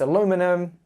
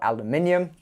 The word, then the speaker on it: aluminium: out of an alloy so it's aluminum or aluminium or even your from how you pronounce that but I just